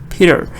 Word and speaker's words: Peter: first one is Big because the stress is on the first one I don't say Peter I say Peter Peter Peter painted pictures painted